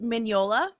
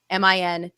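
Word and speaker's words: Mignola: And he has a tweet that says, "Hey guys, it's MIN-YO-LA.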